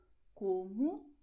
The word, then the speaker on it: como: And the letter O at the end of the word is pronounced as U. So you're going to say obrigado como logo.